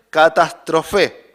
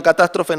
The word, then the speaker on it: catástrofe: El término perdición en griego, en el original es catástrofe. Tiene el tilde en la E, entiendo que se pronuncia así.